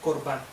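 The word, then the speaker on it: קורבן: Dijimos que la palabra ofrenda se pronunciaba en el hebreo korban, y que realmente lo que korban significa es acercarse.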